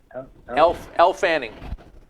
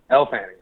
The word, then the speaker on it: Elle Fanning: Leading that movie, and I think that Elle Fanning? Is that how you pronounce it? Elle Fanning. Elle Fanning.